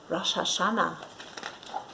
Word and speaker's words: Rosh Hashanah: mo taught the children how to say it rosh hashanah on rosh hashanah we light candles at night